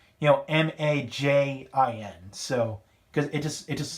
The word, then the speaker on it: Majin: I'm going to pronounce this Time Majin with the katakana spelling. You know, Majin.